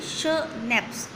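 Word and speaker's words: schnapps: We have स्नैप्स, स्नैप्स क्या है यहाँ पे, श, इसको कैसे करेंगे, श नैप्स, स्नैप्स कैसे प्रोनाउंस करेंगे इसको, श नैप्स, ठीक है।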